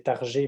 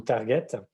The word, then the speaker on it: target: le modèle tard j'ai ça s'écrit target comment comme en anglais donc on peut le prononcé tard j'ai parce qu'il est français mais ou target et vous voyez que